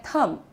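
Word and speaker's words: thumb: इसे हम कहते हैं थंब। राइट? थंब नहीं। थंब नहीं थंब। ठीक है? क्योंकि बी साइलेंट होता है इसमें।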